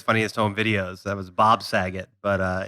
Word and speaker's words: Saget: That was Bob Saget. But it's like that. Zagat. No, but think of that's how you pronounce it. Bob Saget. You don't say Bob Zagat. Like it's Bob Saget.